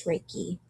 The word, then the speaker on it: Reiki: difference so what is Reiki will Reiki is pronounced ray and key ray means spiritual wisdom